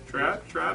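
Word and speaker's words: Tradd: Thrad Moore? Is that how you pronounce his name? Thrad? T-R-A-D-D? Trad, I guess? Yeah, Trad.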